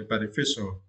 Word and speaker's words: beneficial: Yeah, for this word you need to stress the third syllable, right? Fee. Okay, beneficial. Yes, and here the meaning in Vietnamese, right?